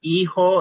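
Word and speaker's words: hijo: So we have e-ho and e-ha which then it's not written here but that really represents son and daughter.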